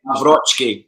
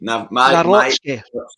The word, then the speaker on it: Nawrocki: Nawrocki. Nawrocki. Yeah, that's it. Nawrocki.